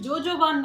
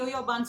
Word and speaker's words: jojoba: ஸோ கமெண்ட்ல ஒருத்தர் last time வந்து கேட்டிருந்தாங்க, அது வந்து ஜோஜோபான் தானே இருக்கு, நீங்க ஏன் யோயோபான்னு சொல்றீங்க அப்படின்னு. JOJOBA அப்படின்னு தான் வந்து இருக்கும். பட் அதை ப்ரொனவுன்ஸ் பண்றது யோயோபா ஆயில் அப்படின்னு தான் சொல்லுவாங்க.